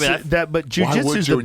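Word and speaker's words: jiu-jitsu: the move after Jews, but he was like, spell it J-I-U, but we all know what it is.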